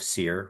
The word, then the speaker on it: Cyr: So for finding me, people can find me easily on Instagram, Facebook, and LinkedIn under my name, Seir, which is spelled CYR.